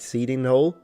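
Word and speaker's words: Cheydinhal: Seeding Hole or Chading Hole. How do you pronounce it? Seeding Hole.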